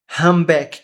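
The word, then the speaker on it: humpback: Esse p não fala back, mas não é simplesmente um back. Humback, como se P não existisse.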